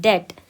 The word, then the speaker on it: debt: दूसरा example, he went to the wall due to debt, इस word में B silent है, debt।